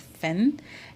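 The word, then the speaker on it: Fhin: ですけど This is an artist called Finn and spelled F-H-I-N F-H-I-N という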